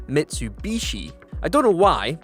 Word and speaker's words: Mitsubishi: some reason a lot of us in the UK refer to this brand of car as Mitsubushi rather than Mitsubishi I don't know why